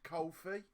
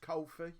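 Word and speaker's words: Ko-fi: I'm made aware today he's pronounced Kofi that ko - effort he's pronounced Kofi yeah it costed no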